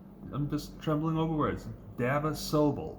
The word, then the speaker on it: Dava Sobel: and the author is Dava Sabel. I can't talk tonight, guys. I can't. I'm just trembling over words. Dava Sobel. There we go. Dava Sobel. That's how you say it.